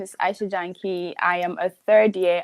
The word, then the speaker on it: Janki: Aisha Janki. Yeah, it's pronounced Janki, but Sorry.